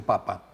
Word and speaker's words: papa: pronuncian desde muy peños Y si aquí decimos papá Pues ellos dicen papa no lo que cambian es el acento Y entonces literalmente es